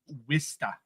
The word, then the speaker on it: Worcester: I know people that pronounce it Wista.